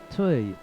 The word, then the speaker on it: Toy: and they said it's it's almost like saying toy toy yeah art toy so what's that one